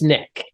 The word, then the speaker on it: Nicholas: name is Nicholas everywhere it's written Nicholas it's pronounced Nick okay all right perfect